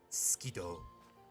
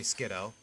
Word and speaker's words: Skiddo: In conclusion, Skeeto. I don't know why I pronounce it Skeeto. People say Skiddo.